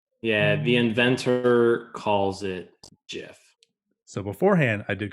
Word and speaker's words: GIF: says they are wrong it is a soft g pronounced jiff so that's solely the